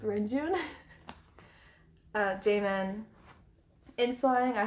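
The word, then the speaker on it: Renjun: win-win mark renjoon and i know rinjun's not how you say it um but i always mess it up when i try to say it correctly so i'll just stick with rain june uh damon in flying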